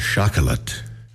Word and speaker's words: Chocolat: Chocolat. Chocolat. Chocolat. Yes. Mhm. Death by Chocolat. Chocolat. Uh-huh. That's how they say it.